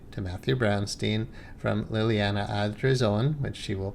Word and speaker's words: Ardizzone: illuminated mine podcast so let me welcome Liliana adrone you can tell me if I got your name if I pronounced your name right it's AR Son thank you you say better than I do